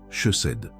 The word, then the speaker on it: chesed: La parole hébraïque qui définit exactement ce qui se passe en toi est chesed. Prononce-la avec moi en silence.